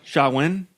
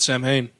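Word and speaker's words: Samhain: for candy is like socialism well called uh shawwin that's how they say to pronounce it because it's spelled s-a-m-h-a-i-n but it says pronounce it it's s-a-h-w-i-n yeah if it's Gaelic yeah I've always said Sam Hayne I've always thought it was Sam hey too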